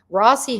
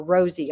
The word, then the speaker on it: Rossi: Rossi had nothing to do with it, or Rosie, I think they pronounce his name more like Rosie.